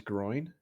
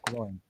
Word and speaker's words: Gloin: Did you say his name was Groin? No, Gloin.